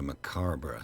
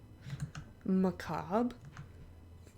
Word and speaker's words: macabre: lights are just green what a macarber souvenir Macabre is that what he's what a macarbrough souvenir macabre that is how you pronounce that Mr Pierce it's my